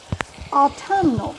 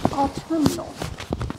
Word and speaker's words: autumnal: it was a word autumnal a u t u m n u a l autal like Autumn didn't even know there